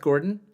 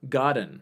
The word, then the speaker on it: Godin: Godin what's that says god Seth Oh Seth Gordon Godin Godin Seth Godin okay so it's a process for mispronouncing that's okay yeah that book is fantastic